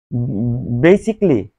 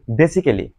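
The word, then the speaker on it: basically: যেমন বেসিকলি যেটাকে আমরা বলি বেসিক্যালি। তো বেসিকলিকে আমরা বেসিক্যালি না বলি।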